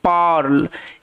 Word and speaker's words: pearl: পার্ল এটার উচ্চারণটা হচ্ছে পার্ল এখানে ই এ আর একত্রে আর সাউন্ড দিচ্ছে কেন আর সাউন্ড দিচ্ছে